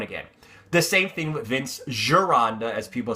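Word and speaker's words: Vince Gironda: then cutting down again the same thing with Vince girand as people say his name's not Ganda Vince giranda said the same same thing he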